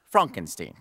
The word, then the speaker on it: Frankenstein: Frankenstein? That's Frankenstein. My name. It's pronounced Frankenstein.